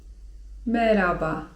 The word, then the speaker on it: merhaba: merhaba (czyt. meraba) Tutaj wiem, że często macie problem z tym 'h', które jest widoczne w słowie 'merhaba'. Czy czytać to 'h' czy nie czytać tego 'h'?